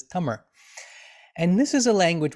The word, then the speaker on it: Tamil: classical language of tamir usually spelled in english t-a-m-i-l and often pronounced in english tamil which is perfectly fine in english the tamira way of saying it is tummer and this is a